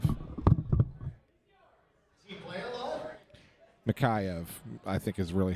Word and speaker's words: Mikheyev: Mikheyev, I think is really how you pronounce it.